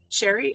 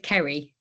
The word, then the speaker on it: Ceri: Um, congratulations chef Sherry. Am I pronouncing your name right? It's Carrie.